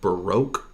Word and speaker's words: baroque: do that is called Baroque music I don't know how to spell that but it's called baroque sounds like broke but it's Baroque and that music is